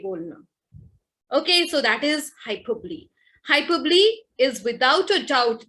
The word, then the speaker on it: hyperbole: Hyperbole, the pronunciation, please take care of it, because I find many times students as well as my dear colleagues and friends, the pronunciation is hyperbole.